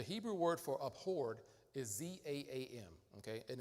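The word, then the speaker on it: זעם: It's all a matter of where you put the emphasis, where you put it on the first half of the word, za'am, or the last half, za'am, all right?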